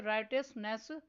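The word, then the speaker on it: righteousness: Next word है राइटियसनेस। इस word में साइलेंट लेटर जी पर सर्कल करना है।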